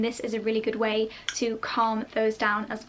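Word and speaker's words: OUAI: Next up is a hair favourite, and this is from Way Hair Care. I hope that's how you pronounce it, I think that's right, O-U-A-I.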